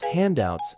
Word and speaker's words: handouts: and retention pronunciation pronounce handouts as aats with the emphasis on the first syllable hand use in a sentence